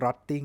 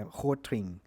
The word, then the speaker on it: Rotring: hing หรือ ว่า rting หรือ ว่า rotting หรือ ว่า Ling นะ ครับ แล้ว แต่ จะ